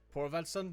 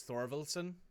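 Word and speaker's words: Þorvaldsson: Yeah, so the P is pronounced, I think, like a... Actually, I'm not quite sure. So that's Icelandic ruins specifically. Hang on. Oh, I just typed in the wrong button there. Hang on. Icelandic names. If I go into his nickname here, I can copy this. Icelandic letters pronunciation. It's TH, so it's Thorvaldsson, basically.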